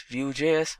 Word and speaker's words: Vue.js: Vue.js is commonly referred to as Vue and pronounced as Vue.js or Vue is rightly so.